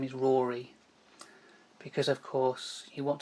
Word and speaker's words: Rory: your first name is Rory because of course you want to make sure it rhymes with Tory so we could call